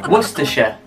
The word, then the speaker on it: Worcestershire: know if i'll get this we're cestershire worcestershire what's disha yeah i sound you sound really american particularly when i throw in the word shire because it's worcestershire oh this sound this seems easy mary the